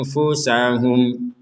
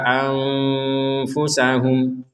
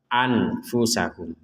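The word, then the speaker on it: أنفسهم: ataupun en Har illa anfusahum Nah di sini ada nun sukun bertemu dengan Fa kita membacanya dengan samar Jangan dibaca jelas kalau dibaca jelas anfusahum sekali lagi anfusahum dan itu salah atau dibaca dengung maka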